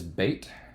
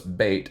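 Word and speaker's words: ב: the the letter so in this case even though it's bait and it sounds like it'd be a b it's a v sound so actually if you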